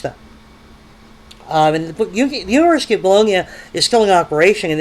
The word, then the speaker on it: Bologna: um, which is spelled Bologna as we would spell it, Bologna. We pronounce it Bologna.